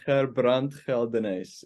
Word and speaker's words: Gerbrand Geldenhuys: Like, I'm from South Africa and we have a different way of saying our words. So my name is Gerbrand Geldenhuys, if you want to say it correctly.